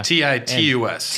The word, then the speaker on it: Titus: music faceballs um yeah TI us TI us yes not tetus like like homeboy and